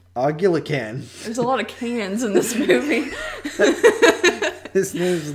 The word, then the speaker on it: Can: The director is Ken Evrenol. Literally Can is his name. Yeah, C-A-N.